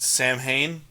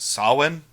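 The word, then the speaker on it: Samhain: It's not pronounced Sam Hayne. It's pronounced Sin.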